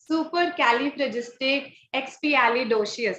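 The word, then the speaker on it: supercalifragilisticexpialidocious: Do you want me to pronounce this word? Supercalifragisticexpialidocious.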